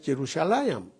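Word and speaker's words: ירושלים: terminando con la letra M, pero en hebreo la pronunciación es Jerusalayam.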